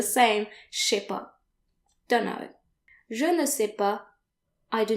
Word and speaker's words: je ne sais pas: And if you don't know something, then you want to say je ne sais pas. Je ne sais pas. And notice that the final S's are silent, like they normally are in French.